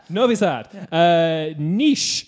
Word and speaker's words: Niš: Niš. Niche, that's right.